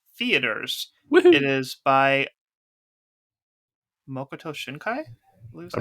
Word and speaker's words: Makoto Shinkai: is by Makoto Shinkai.